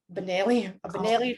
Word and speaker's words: Benelli: what's the proper word benelli like liza minnelli but with manila right okay which is